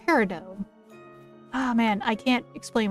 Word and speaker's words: peridot: time I got to play it was mostly paradonite. Paradonite? Because yeah, it's pronounced peridot.